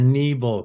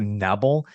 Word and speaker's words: Nebel: email that was great you put the two e's in there it's so helpful because I'm like well I want to make sure you know you always want to make sure you pronounced right but can you hear me okay yeah very very well um yeah you know with my last name and some people do Nubble there was once a